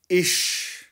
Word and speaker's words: ich: और जर्मन में जब आप मैं या आई को ट्रांसलेट करेंगे तो ये बन जाएगा इश। इश, इसके स्पेलिंग बनेंगे ICH, और जर्मन में इसके स्पेलिंग बनेंगे ई से हा।